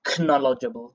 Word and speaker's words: knowledgeable: Again, it's a silent K at the top, so we don't pronounce the k. We don't say knowledgeable. We say knowledgeable.